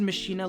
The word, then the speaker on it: Machina: By the way, I pronounce it Machina, leave me alone, I know.